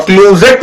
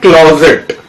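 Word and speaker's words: closet: ठीक है, क्लोजेट भी बहुत पूछा जाता है बच्चों, और क्लोजेट नहीं बोलते हैं एक्चुअली इसको, इसका प्रोनाउंसिएशन है क्लोजेट। और होता क्या है, हम लोग के इंडिया में इतना ज्यादा यूज नहीं होता है।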